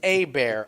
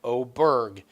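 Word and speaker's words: Åberg: It's Abear, Obear, Aberg, Oberg. It's, you name it. Every vowel is pronounced different every time they go to the announcers. They've even said, they're like, well, this week he says it's Obear, so we're calling him Obear.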